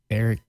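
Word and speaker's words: Aric: his real name is Eric ofia I'm assuming it's Eric because it's a r i c and I don't know any other way you could possibly pronounce that and he is like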